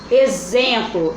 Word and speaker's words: exemplo: Exemplo, exemplo, eu escrevo exemplo, né? Com X, mas na hora que eu vou pronunciar, tem o som de Z.